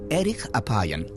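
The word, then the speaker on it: ארך אפים: En hebreo, la frase lento para la ira se pronuncia erich apayan, literalmente de larga nariz.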